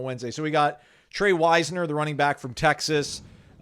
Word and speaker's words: Wisner: So we got Tre Wisner, the running back from Texas. That's how we pronounce it, kids.